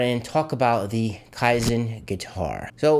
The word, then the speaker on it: Kaizen: to the stuff that you're interested in the kaizen that is how it's pronounced i'm proud of myself because i got